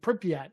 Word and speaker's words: Pripyat: In Pripyat, I think is the name, how you pronounce the city.